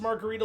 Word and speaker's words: margherita: I'm assuming it's pronounced margarita like the drink.